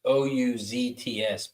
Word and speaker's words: Ouzts: Perry, I don't know how to pronounce his last name. It's Ouzts, Perry Ouzts.